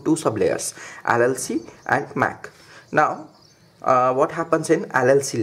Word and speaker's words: MAC: LC and MSE right this I may see is pronounced as math so what happens the data link layer in the I Triple E standard is divided into two sub layers LLC and Mac now what happens in